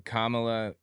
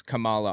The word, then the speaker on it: Kamala: and then became VP I thought her name was Kamala also I didn't realize it's pronounced differently when I figured out it was Kamala I just started pronouncing it correctly like you know it's